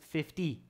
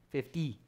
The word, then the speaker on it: fifty: e sound there fifteen and this is fifty fifty there's a d sound there fifty so 2050 okay i